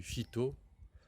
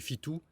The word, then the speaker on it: Fitu: Donc, je suis là au Mirador du Fito, ou si on le prononce en asturien, du Fitou.